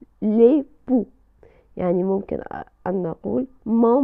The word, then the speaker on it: époux: بالنسبة لمفرد الزوج le mari، le mari، أو أيضا ممكن أن نقول l'époux، l'époux بدون نطق حرف la lettre X، l'époux.